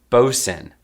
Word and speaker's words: boatswain: of equipment in the crew and it is pronounced bosun bosun what is this oh she is a